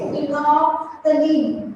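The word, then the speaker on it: phenolphthalein: Spelling board पे से check कर लेना, इट इज फिनोक्सिलीन, एल साइलेंट हो जाता है।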